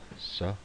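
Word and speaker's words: שׂ: Okay, so the scene dot would go over here to the top left, so we know that that's is the sa pronunciation.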